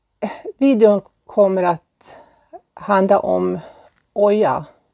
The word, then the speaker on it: Hoya: Det är så här, videon kommer att handla om Oja, stavas H-O-Y-A, Oja. Men H uttalar man inte, utan det är lite sådär spanskt så man hoppar över det och säger Oja.